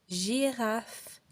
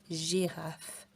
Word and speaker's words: girafe: Mais parfois, la lettre G, elle se prononce comme le J. Et on va dire par exemple gentil, girafe, gym. Donc quand il y a un E, un I ou un Y, on ne prononce pas G, G, non. On prononce J, gentil, girafe, gym.